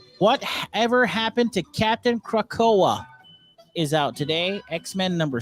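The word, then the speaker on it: Krakoa: ever happened to captain krakow is out today x-men number six this pronounced krakow krakow that's what i said krakowa that's what i said also out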